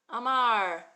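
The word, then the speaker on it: אמר: rainbow right okay so we've got our silent letter letter Alf with its vowel under it that's saying making all the noise ah AR Ma and er at the end Amar Amar means means what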